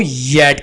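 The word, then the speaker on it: yacht: कश्ती को येट कहती हैं, यहाँ पर हम सी एच को साइलेंट रखेंगे।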